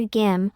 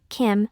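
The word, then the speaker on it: 김: Due to these pronunciation characteristics, when native Korean speakers utter gim, one of the representative surnames in Korea, English native speakers tend to perceive it as kim rather than gim.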